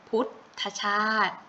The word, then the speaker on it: พุทธชาด: คือ คำ ว่า พุทธชาด ถ้า ตัว นี้ อ่าน ออก เสียง เพียง แค่ กึ่ง เสียง นะ คะ พุทธชาด อาอ้า ที นี้ ทะลุ